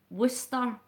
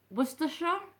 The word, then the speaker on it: Worcestershire: Right, the way it's worded is Worcestershire sauce. Aye. But you wouldn't say it that way, you would say Worcestershire. Worcestershire? Or Worcestershire sauce? Worcester.